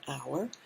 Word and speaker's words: hour: say ah european and here we say an hour because the sound is our that's a vowel sound okay so let's check